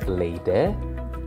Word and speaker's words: lady: So lady would also become lady, and party would not be pronounced with the R sound, as I mentioned before.